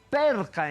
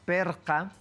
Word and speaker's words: perca: Perca, entonces, eso es la pronunciación, perca, perca, para referirnos a la pared. ¿No? Ahí está, pared, entonces en Aymara, perca.